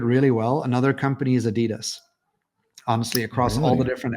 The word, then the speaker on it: Adidas: about what made um Adidas or Adidas, however you want to pronounce it. Adidas. That's why listen, I realized we were pronouncing it wrong as Americans.